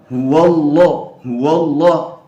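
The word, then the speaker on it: هو الله: Huwallah, huwallah. Padahal waw itu tipis, teman-teman. Jadi jangan sampai seperti itu. Harus ya kita membacanya sesuai dengan sifat aslinya.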